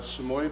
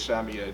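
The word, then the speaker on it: Samoyed: well well it's about a uh samoy puppy or samed depending on how you want to pronounce it the correct way is Sami Ed he was a pup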